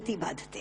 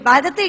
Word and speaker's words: बांधते: कष्ट दे रहा है जो कि बांधते शब्द का अशुद्ध उच्चारण आपने किया है यह शब्द बांधते होना चाहिए भारत नवज्योति राजन यथावत